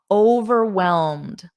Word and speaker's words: overwhelmed: Notice this ED, whelmed. It's a very soft D, whelmed, whelmed. And then you just add over, overwhelmed.